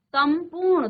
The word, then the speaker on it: संपूर्ण: संपूर्ण, तो यहां पर देखिए, हर अनुस्वार को अलग-अलग उच्चारण में पढ़ा जा रहा है। कहीं हम पढ़ रहे हैं सन, कहीं हम पढ़ रहे हैं सम, कहीं हम सन।